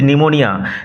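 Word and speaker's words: pneumonia: Himself went down with নিউমোনিয়া, যখন তিনি নিউমোনিয়ায় কাবু হয়ে পড়লেন। গো ডাউন উইথ নিউমোনিয়ায় কাবু হয়ে পড়া, লক্ষ্য করো নিউমোনিয়া বানান, লক্ষ্য করো। P will remain silent, P silent থাকবে।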